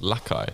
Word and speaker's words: Lakai: Is that how you pronounce it? Lakai? Lakai, yeah. Oh. They're how would you called, pronounce it? I thought it was like Lakey or Lakey.